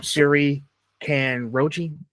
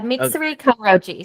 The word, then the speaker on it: Mitsuri Kanroji: Um, Siri can Roachi. Did I say it right? Yeah. Mitsuri Kroji.